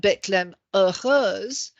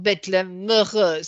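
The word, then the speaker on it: Bethléem heureuse: So if we take the example of Bethlehem, what looks like Bethlehem heureuse, from the spelling, the grammarian there says no. He thinks you pronounce it with the liaison Bethlehem heureuse. So he's put an M in to show the liaison.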